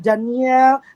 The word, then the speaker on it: Dañelle: I'm wrong yeah um actually a lot of people are having a hard time pronouncing my name but you can just call me Dane or Daniel let's pronounce as Daniel oh Dan or hello